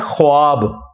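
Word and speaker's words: ख़्वाब: नहीं आ सकता अच्छा ये लफ्ज लिखने में है ख्वाब ख व अलिफ बा लेकिन पढ़ने में यह खवाब है व साइलेंट हो जाता है ख्वाब पढ़ा जाता है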